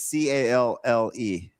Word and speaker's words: calle: I think that's sitting here listening to you two try to pronounce Spanish words is hilarious. Oh, sorry, my favorite Puerto Rican. What is CALLE?